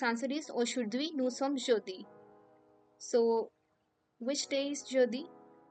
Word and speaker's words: jeudi: So Monday is pronounced as lundi. Monday is lundi. Thursday is jeudi.